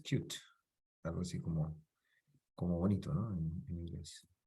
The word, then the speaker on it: Qt: Qt, que se pronuncia en inglés cute, algo así como bonito, ¿no?